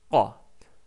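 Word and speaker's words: ق: Donc c'est K et Q. Donc la langue recule un petit peu en arrière. Donc K, Q, K, Q, K, Q. Exercez-vous à répéter ça plusieurs fois. Vous allez voir que vous allez petit à petit sortir le son qa.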